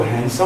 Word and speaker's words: handsome: ऐसे हैंडसम पढ़ते हैं, लेकिन मैंने पहले भी बता चुका हूँ जब DN के बाद आता है ऐसे शब्दों में हमें D साइलेंट करना होता है। इस तरह से इसको हैंडसम पढ़ा जाएगा।